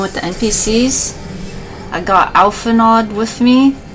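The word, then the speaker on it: Alphinaud: the NPCs I got alphanod with me I think his name is pronounced alphano but I'm just gonna say Alpha nod because that's what I'm used to I might inter change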